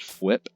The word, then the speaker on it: Fwhip: So yeah, I understand I may have pronounced it a little weird, but I think it's just Fwhip, F-W-H-I-P.